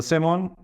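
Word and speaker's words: salmon: দ্য সেমন, মাছের নাম এলের উচ্চারণ হয় না, দ্য সেমন বি ভেরি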